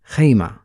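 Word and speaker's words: خيمة: ends with the word Hema so it is pronounced as the last sound is ha IMA mostly Arabs pronouns with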